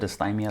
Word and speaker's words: dysthymia: Is it dysthymia?